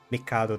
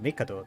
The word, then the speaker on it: Mikado: I keep switching between saying Mikado, that is the right way to pronounce his name, to Mikado, that is the way that is stuck in my head.